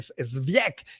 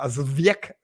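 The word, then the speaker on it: Żywiec: por ejemplo, de Zwiek, ya no me acuerdo bien cómo se pronuncia, Zwiek, me enseñaron mis amigos polacos, pero obviamente no soy muy proeficiente en el polaco.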